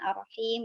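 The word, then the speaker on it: الرحيم: Nah, rahmannya sudah betul pakai ha yang halus, tapi pas rohimnya pakai ha besar gitu ya, dan seharusnya Rohim dua-duanya gitu pakai ya. yang halus ya, ar-Rahman, ar-Rahim gitu.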